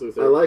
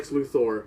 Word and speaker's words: Luthor: villain I hate Lex Luther oh sorry nope we're all saying it wrong Le luor and that drives me